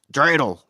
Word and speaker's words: dreidel: You can Google has you know how Google if you type in like because it's actually pronounced dreidel.